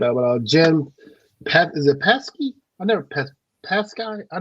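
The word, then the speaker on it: Psaki: jen pat is it pesky i never passed guy i never said her name never knew her how to pronounce her laughter hockey what is it gen saki the the p is silent okay okay yeah she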